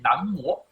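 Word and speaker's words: 南无: 我们常说南无阿弥陀佛，南无应该念南无，意思是礼敬的意思。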